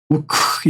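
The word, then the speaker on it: οὐκ: 여기서는 크 발음이 있을 때는 요 우 요게 있을 때 크 발음이 납니다. 그래서 나는 말하기를 나는 아니다. 우크 이거는 아까 전에 얘기했듯이 강한 순표일 때는 강한 게 와요.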